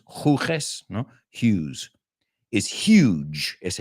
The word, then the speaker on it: Hughes: John Hughes, ese apellido se pronuncia Hughes. Hughes, no?